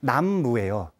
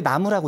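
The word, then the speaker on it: 南無: 그러니까 사실은 원래 음이 남무예요. 근데 나무라고 읽죠.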